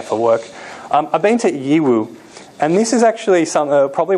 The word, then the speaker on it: Yiwu: This little city called Yiwu. It's also pronounced EU, like the like European Union, EU.